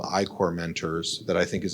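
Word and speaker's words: I-Corps: through a program called iore No One pronounces the P it's i-c RPS um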